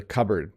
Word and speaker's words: cupboard: have of course the cupboard another strange pronunciation it's cupboard in our kitchen we